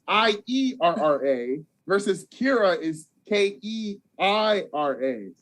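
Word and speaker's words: Keira: I've been operating on K-I-E-R-A. Yeah, so Kira. That's why I would say Kiera. But now that I see it's K-E-I-R-A, you're right. It's Kira.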